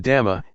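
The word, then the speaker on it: ธรรม: The dhamma, in Thai pronounced in the same way as the word tum, which means to do, refers to nature that exists by itself.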